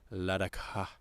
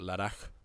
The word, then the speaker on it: Ladakh: particularly in the region of Ladakh, India. What? I just know that's probably not how it's pronounced. Yeah, I think it's like Ladakh. A lot of it's very breathy. Ladakh. Where it's a KH.